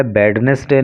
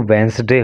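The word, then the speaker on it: Wednesday: इसको जो है वेडनेसडे नहीं बोलते हैं, ऐसी गलती आप मत करना। इसका जो प्रोनाउंसिएशन है वो वेंसडे होता है।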